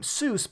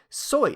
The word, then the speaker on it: Seuss: another one Dr Seuss beloved children's author everyone pronounces his last name Seuss but it's supposed to be so that's the correct pronunciation people probably look at